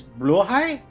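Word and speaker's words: Blåhaj: uh if I recall it's correct pronunciation is Blue High or something like that I remember I was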